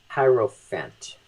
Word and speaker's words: Hierophant: I think I choose the Hierophant. That's how you pronounce it.